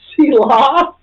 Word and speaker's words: Selah: It's spelled that Well, she way. started with C-Law. Selah.